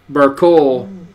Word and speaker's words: Burkell: Well, also my name is pronounced Burkle, but spelled Burkell.